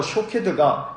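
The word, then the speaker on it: שׁוֹקֵד: 확신 시켜 주신 것입니다 살구나무 는 히브리어로 샥 캐드 날은 바로 이고 지켜본다 는 말은 히브리어로 q 케드 입니다 즉 살구나무 사케도 와 지켜본다는 단어 쇼케이 드가 히브리 말로 비슷한 발음을 하고 있어서 이 툭 단어를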